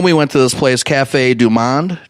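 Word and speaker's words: Café du Monde: went to this place Cafe Du Monde is how you say it it's a famous place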